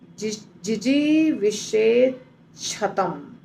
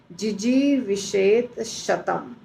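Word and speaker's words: जिजीविषेत् शतम्: पड़ कुवनेर कर्माणि फिर उसके बाद वाला जो शब्द है जिजी विषत शतम दो शब्द को संधि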